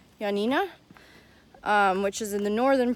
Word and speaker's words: Ioannina: was new and anyways got into yo Nina or as the locals say yeah Nina which is in the